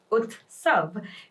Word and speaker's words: Utsav: going to talk about that is utav pronounced as utav meaning a festival or